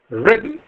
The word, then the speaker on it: rhythm: And similarly, the pronunciation of rhythm is rhythm, rhythm, not rhythm.